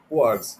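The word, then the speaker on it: kwargs: Quarks, sometimes they pronounce it as quarks.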